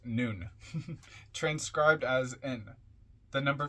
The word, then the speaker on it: Nun: lives and deaths comment on nun or nun nuu n pronounced noon transcribed as in the